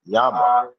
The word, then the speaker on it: Jama: Jama, Spanish, pronounced Yama.